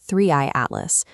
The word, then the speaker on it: 3I/ATLAS: So, when they publish a paper concerning an object called Three Atlas, pronounced Threeey Atlas, we have to pay attention.